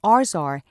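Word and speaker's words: ArsR: is the pump dude be careful how you say it the protein is called arzar since it's the Arsenic repressor protein and ours are is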